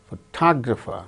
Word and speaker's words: photographer: In the case of the word examine, second syllable gains stress.